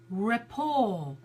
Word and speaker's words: rapport: R T but a rapport so it comes from the French so we don't pronounce